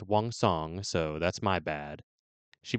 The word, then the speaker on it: Wang: Wang Kong. Not gonna sing the song this time. And her name is actually pronounced Wong, so that's my bad.